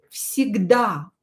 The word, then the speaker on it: всегда: Another example is with всегда, always. Всегда. Всегда. As you can hear, I pronounce V here as F.